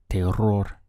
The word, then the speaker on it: terror: terror which is maida tail roar if you can try to roll your R's in the middle here they are or